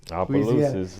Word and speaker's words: Opelousas: Opelousas, Louisiana.